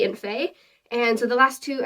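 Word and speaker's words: fae: so the last two you pronounce the first one um FEI fair and so it's f-a-e slash f-a-e-r and you would use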